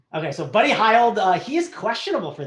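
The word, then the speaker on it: Hield: you called him jt what would you call him buddy high old or what was the name is the way that uh his parents pronounce his name so that's what i use okay so buddy heild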